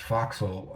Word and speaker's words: Forecastle: I usually see it all um, abbreviated out and pronounced Foxhole, but I don't know if we should say Forecastle in this case, because that's how it's written in these stories.